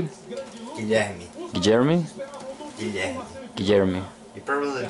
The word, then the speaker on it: Guilherme: Guilherme. Guilherme? Guilherme. Guilherme. You probably don't know how to say it, but it's okay. Like Guillermo? Yeah, kind of.